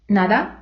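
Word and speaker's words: nada: мама мадри літера ен Теж проста наприклад нада но друзі якщо ви хочете звучати як іспанці спробуйте вимовити її трошки м'якіше при вимові язик має торкатися піднебіння всією своєю площиною нада Но а тепер переходимо до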